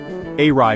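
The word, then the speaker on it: อะไร: Arai means what, and sounds like arai.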